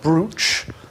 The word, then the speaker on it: brooch: are different kinds of brooch and we've called it brooch but it's spelt bruceontour sure what the difference